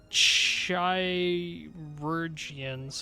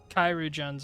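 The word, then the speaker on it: Chirurgeons: Chirurgians, I believe, is the pronunciation.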